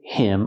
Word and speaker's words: him: a favor he did him a favor pronunciation he did him a favor we hear with him the H is silent because it's not a stressed word he did him he